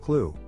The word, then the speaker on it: CLU: commonly referred to as a clu pronounced clue which is the targeting